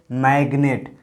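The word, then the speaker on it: magnet: यहाँ भी देखिए जी के बाद एन आया है, लेकिन यहाँ पर जो जी है इसका उच्चारण होता है। जैसे मैग्नेट, ग हो रहा है ना जी का।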